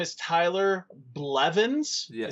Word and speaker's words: Blevins: His name is Tyler Blevins. Yes. Is that how you say his name? Yes.